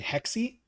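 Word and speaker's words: Hexe: They don't the the one they're working on Assassin's Creed Hexi Hexi Hexi. H E XE. I don't know how to pronounce that. I think it's Hexi.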